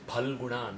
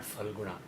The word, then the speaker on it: Phalguna: Similarly, this is Phalguna, not Phalguna.